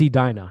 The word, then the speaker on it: Edina: Edina. You're close. It's Edina. You're so close.